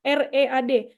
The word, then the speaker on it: read: Bentuk ketiga dari read, tulisannya masih R-E-A-D, tapi bacanya udah jadi read.